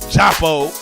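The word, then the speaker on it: Djapo: We having an African reggae type theme today because we got the ladies of Japo, because the D is silent, like Django.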